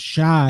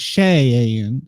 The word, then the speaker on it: Cheyenne: get get a comment it's not shy it's Shay an so I will kick